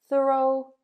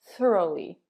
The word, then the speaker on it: thorough: Though, dough, thorough, thoroughly. Now, for thorough and thoroughly, let's compare American and British pronunciation because they're slightly different. I would say thorough, but with a British accent, you might say thorough, thorough, thorough.